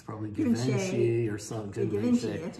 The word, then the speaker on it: Givenchy: It's probably Givenchy or something. Givenchy, that's right. I'm not cultured enough to know how to pronounce it.